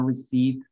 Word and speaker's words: receipt: Fíjense, can I get a receipt? Can I get a receipt? Es can I get a receipt? Nadie habla así. Sí, fíjense que la palabra receipt, la P no se pronuncia.